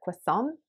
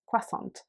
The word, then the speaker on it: croissant: asking for because of my pronunciation of the word croissant uh which is um stressed differently to how american english speakers would stress it so that's another kind